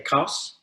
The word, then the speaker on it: !Xaus: For Nigel, we say that if you if you're phonetically challenged in the Nama language, then it's fine for you to say Xaus, as in German. And that's how most people pronounce it.